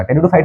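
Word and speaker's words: Pteridophyta: में सबसे पहले आएगा टेडो फाइट में हमने पी से क्यों स्टार्ट किया वो पीटी होता है प इ साइलेंट पता नहीं इंग्लिश वाले लगाते हैं क्य प साइलेंट है तो रख दो भाई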